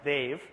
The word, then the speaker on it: Dev: My family is Indian, which is why I have a high maintenance name that's spelled D-E-V and pronounced Dave.